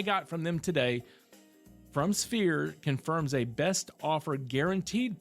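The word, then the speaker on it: SFEER: It's pronounced Sphere.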